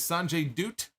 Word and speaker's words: Sanjay Dutt: Jarrett Jay Lethal uh Sanjay dutt who he pronounced it is Sanjay dutt and uh satinum Singh so they made their